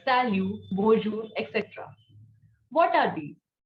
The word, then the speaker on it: salut: next common salutation is salute not salute t will be silent right so salu salu means hi or hello